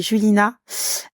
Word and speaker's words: Julina: peux donner ton insta ouais mon insta c'est julina comme ça se prononce j l i n a ti du